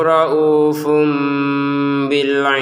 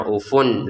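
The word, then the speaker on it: رَءُوفٌ بِالْعِبَادِ: Wallahu raufum bil ibad. Wallahnya 2 harokat, kemudian raufun di sini bertemu dengan ba, maka cara bacanya raufum bi. Sekali lagi Raufum bil ibad.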